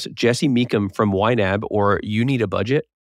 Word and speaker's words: YNAB: He's the founder of You Need a Budget, or YNAB, pronounced YNAB.